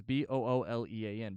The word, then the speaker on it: Boolean: don't have to okay are you trying to pronounce the like the spelling or something no it's b-o-o-l-e-a-n Boolean okay I'm not familiar with that term